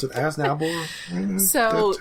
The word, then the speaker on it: Aznable: That, like, we're used to how to pronounce it. Aznable.